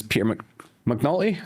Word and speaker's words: McNulty: And the person's name is Peter Mcnulty. Is that how you pronounce it?